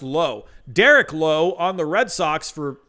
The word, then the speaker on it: Derek Lowe: Derek Lowe on the Red Sox for how many years? It was pronounced Derek Lowe. He was not pronounced Derek Lau.